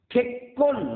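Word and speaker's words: 結婚: যেমন খেক্কন মানে বিবাহ। খেক্কন লিখতে গেলে দুইটা কয়ের প্রয়োজন। বাংলায় আমরা কয়ের নিচে ক লিখে দুইটি কয়ের উপর ডবল উচ্চারণ করতে পারি, কিন্তু জাপানি ভাষায় তা করা যায় না।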